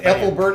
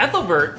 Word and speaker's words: Ethelbert: they ate the Christians right how do you pronounce that Apple bird of Kent oh saint ethelbert yes I think I think ethelivert was also